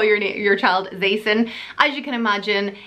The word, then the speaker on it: Zaison: and it's the name Zaison, Z-A-I-S-O-N. I told you it was a bit of a weird one. So basically it sounds like Mason, but you spell it with a Z and spell it Z-A-I-S-O-N.